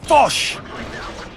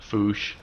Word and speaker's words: Foch: Fosh! Fosh. But it's pronounced with when you take foo and remove the E.